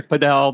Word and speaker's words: Padel: So in the US we're we're trying to uh change the aspect from over the a to over the e. So nice. Wow, I love that. I'll say paddle. You can say paddle. I try to say podel, but uh yeah, either way.